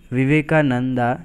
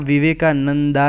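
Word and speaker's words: Vivekananda: तो दोस्तों यहाँ विवेकानंदा ही बोलेंगे, रामानंदा, विवेकानंदा, इस तरह से ही यहाँ पे प्रोनाउंस करेंगे क्योंकि ये इंग्लिश में इसी तरह से लिखा जाता है। लेकिन अगर आपको अच्छा लगे तो आप विवेकानंद भी बोल सकते हैं।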